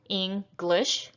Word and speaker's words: English: If you look at the second word here, English, we have 2 syllables, English.